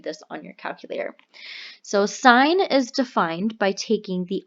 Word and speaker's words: sine: in the right triangle sine K pronounced si gh like a road sign okay don't call it sin although on your calculator